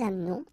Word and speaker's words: amenons: Nous doesn't change. Nous amenons. Okay, it's a silent her here. Mute. Amenons.